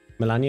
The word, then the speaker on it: Melania: Melania is pronounced the Russian Polish way.